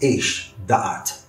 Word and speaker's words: Esh Da'at: It's written one way, but it's pronounced and is known as Esh Da'at, a fiery law, or a law of knowledge.